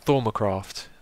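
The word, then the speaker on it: Thaumcraft: How's it pronounced? Thormacraft.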